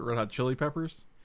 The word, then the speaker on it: Red Hot Chili Peppers: Red Hot Chili Peppers I feel like I've instinctually put the inflection on the chili part Red Hot Chili Peppers chili pepper like it goes up there the high point of